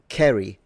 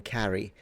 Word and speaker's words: carry: Um, Kerry rather than carry. So, the the short a sound was still pronounced in this man's time and all the way up to the queen still.